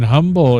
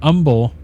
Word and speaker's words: Humble: Uh I heard that people in Humble, if you pronounce the H in humble and not humble, you get chastised. What a local told me. Yep, it's humble.